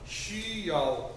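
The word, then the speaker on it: 需要: होता है शी शी वाई ए ओ याओ शी याओ शी याओ और इसका मतलब होता है नीड जरूरत होना ठीक है शी याओ शी याओ नीड जरूरत होना छू ज छ छू जू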